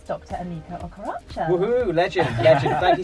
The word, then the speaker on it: Emeka: it Emeka or Mika? Emeka. Emeka. Emeka.